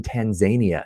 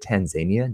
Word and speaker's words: Tanzania: say for example in tanzania did you know they pronounce it tanzania not tanzania it's true i won't